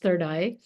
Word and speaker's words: Third AI: LLC third eye Ventures third AI pronounced third eye Ventures um and I'm really